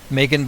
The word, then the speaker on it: Maygen: to the whole thing I just want to be clear that the spilling that I'm using on crime rocket is in a yge in which is the same spelling Heidi used but I'll be pronouncing a name Megan not Megan and then finally the